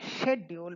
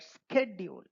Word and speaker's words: schedule: Not schedule but schedule. S K E D U L E that is the way it is pronounced. So schedule is now pronounced schedule in matching with school scholar or scheme.